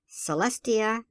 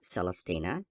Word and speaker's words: Celestia: The name is something like Celestia, not Celestina, Roxalina, not Redexilana Phelps," thus giving wrong pronunciations to the first 2 names.